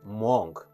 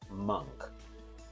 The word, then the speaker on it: monk: This word also people pronounce incorrect and the word is monk, but the correct pronunciation is monk.